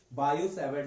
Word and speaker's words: Biot-Savart: Biot यहाँ पे जो T होता है बच्चों क्या होता है, साइलेंट होता है. तो इसलिए हम इसको क्या पढ़ते हैं, बायो सेवर्ट लॉ पढ़ते हैं।